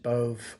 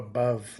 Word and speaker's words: Bove: Bo I call them let's just pronounce it Bove or Bove like like dove like but with a B but and minus all the big women in that soap commercial.